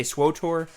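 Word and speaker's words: SWTOR: You say swotor swer swotor. But it's not spelled that way. There's no extra O cuz then it would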